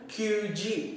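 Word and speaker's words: 九時: Pero sa 9, hindi pwede natin gamitin yung Q. So, wala po tayong QG. So, ang tamang pronunciation po doon ay ku.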